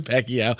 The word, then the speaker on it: Pacquiao: I'm like, I literally typed in, how do you pronounce Manny? And I'm like, whatever the last name Pacquiao. is. Pacquiao.